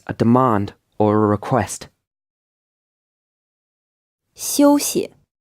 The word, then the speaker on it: 休息: 休息. This word is pronounced in the first tone, and the second syllable is unstressed.